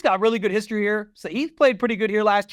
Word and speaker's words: Sahith: You know what rhymes with Spieth? Sahith.